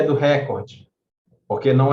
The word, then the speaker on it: recorde: é o substantivo recorde a pronúncia correta é recorde ela é uma paroxítona que não termina na